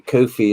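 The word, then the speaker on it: Ko-fi: not one um and apparently kofi is pronounced to rhyme with nobody oh we're getting grammar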